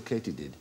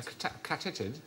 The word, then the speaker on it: katydid: Why might they be called a katydid? A catitid? No, it is actually pronounced katydid.